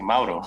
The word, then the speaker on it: Mauro: You said it right, actually, Mauro.